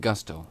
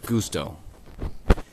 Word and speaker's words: Gusto: Yes, it is pronounced Gusto. Just so you all know, out there on YouTube and new YouTubers, it's pronounced Gusto, not Gusto.